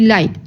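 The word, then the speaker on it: like: इसकी silent letter है ई को हम लोग जस्ट हम लोग ऐसे ही बोलेंगे लाइक लाइक में हम लोग ई नहीं ना बोल रहे तो ई क्या हो गया साइलेंट हो गया और यह प्रोनाउंस नहीं किया जाएगा ठीक है एफ एफ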